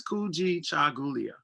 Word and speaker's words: Kujichagulia: brian for saying that i know people like wait how do you say this it's cool g chagulia and um that is